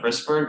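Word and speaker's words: Wrisberg: Starts with W and rhymes with Isberg. Meniscofemoral ligament of Risberg.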